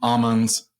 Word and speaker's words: Aman's: yeah just bonsel from almonds did I say it right almonds almonds yes uh I I cannot